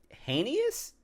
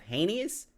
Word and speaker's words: heinous: guy that did this the other important thing hanus or or hanis yo when Walter talking about when Walter talks